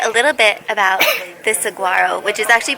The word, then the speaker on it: saguaro: to teach you a little bit about this Saguaro which is actually pronounced Saro Saro wow once Saro reach 75 years old that's